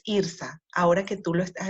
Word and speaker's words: Irtha: un pequeño Ay Disculpa estuve pronunciando mal tu nombre es irsa ahora que tú lo